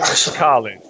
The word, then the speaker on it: Schallen: Schallen. O H é mudo.